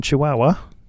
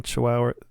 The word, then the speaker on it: Chihuahua: can still talk shop yeah well you've taken chihuahua i've learned how to say it yeah with